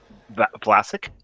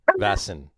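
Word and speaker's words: Väsen: Vlasic. Not Vlasic. That's a pickle company. Vasson. That's it.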